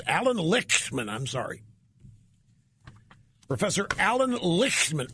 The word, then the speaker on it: Lichtman: He could have pronounced it Lightman. He chose to pronounce it Lichtman?